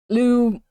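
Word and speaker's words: Lugh: as the god l and when I say Lou I mean it's pronounced like this Lou is of the tuanan so he's of the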